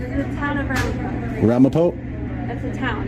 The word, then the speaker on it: Ramapo: Ramapo, that's a town. Yeah, Ramapo is how you say it.